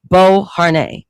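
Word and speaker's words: Beauharnais: That's how you pronounce the last name. Bo Har during his Italian military campaign.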